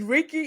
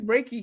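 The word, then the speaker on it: Reiki: going to know is is Ricky am I saying it right Ricky healing is that raik raiki raiky raiki yeah raiki healing so I have not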